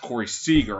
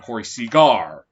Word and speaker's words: Seager: please let me know if I mispronounced that, because apparently last week I mispronounced Corey Seager. I kept calling him Corey Seagar.